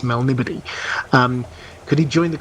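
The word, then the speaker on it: Melniboné: many years ago, I I've pronounced it in my head as a Melnibone. Uh which it may be, but I've I've been told um Oh, sure. Since then it was it's Melnibody.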